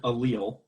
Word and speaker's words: allele: gene is called allele and i've heard people pronounce that allele or allele or whatever it's it's an allele and an allele is a version of a gene so it's